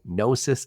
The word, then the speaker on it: Gnosis: technical officer at nois Freight by the way nosis is spelled GN o s i s nosis Freight